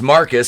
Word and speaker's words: Marquis: surprise marquise pronounced marcus scolds ryan for attending